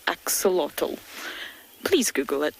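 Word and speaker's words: axolotl: of it before it's spelled a x o l o t l axotal please google it it's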